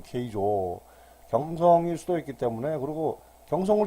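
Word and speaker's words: 京城: 일본 발음으로 케이조.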